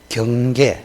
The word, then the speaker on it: 경계: 번째 한번 읽어 보시오 경계 한번 해봐라 경계이 경상도 사람은이여 이게 발음이 잘 안 돼 그래서 경계 경계 요렇게 읽어도 됩니다 유일하게 우리 경상도 사람을 위해서 표준어가 두 개입니다 두 개 이거 사투리가 아니에요 경